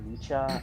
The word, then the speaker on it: Mika: it Mecca or Micha? I never know what the cow. I never know how to pronounce his name. Mika. I think Call him Mika. Rulon. He likes being called Mika Rulon.